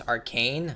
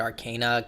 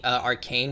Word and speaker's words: Arcane: But we did have a lot of really good video game based media such as Arcane. I always pronounce it Arcana.